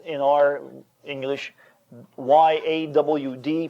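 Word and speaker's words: יד: And it's spelled in our English Y-A-W-D, pronounced yawd. Like a southerner would say, I've gone out my backyard.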